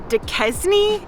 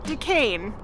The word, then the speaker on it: Duquesne: trick has been to think of the actor dean cain and just say his name really fast decaying that's how you say